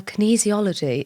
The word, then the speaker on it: kinesiology: Well, kinesiology is...